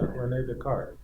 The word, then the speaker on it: Descartes: I don't know, Descartes, how do you pronounce in English? Yeah, René Descartes.